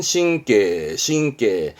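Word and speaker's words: 神経: 발음은 신께.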